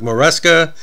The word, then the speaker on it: Moresca: Now, this was a request from our good friend Patrick Moresca. As we like to say, rhymes with Fresca.